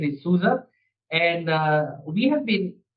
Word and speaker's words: SUSE: So I work in this uh German company called Souza uh s u s e but it's the German pronunciation is soua and uh we have been around for over 30 years.